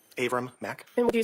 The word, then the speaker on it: Avram: Avram Mack. And would you spell your name for the record, please? Avram is spelled A, V like Victor, R like Robert, A like Apple, M like Mary.